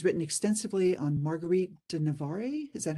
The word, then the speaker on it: Navarre: And he's written extensively on Marguerite de Navarre. Is that how you pronounce it?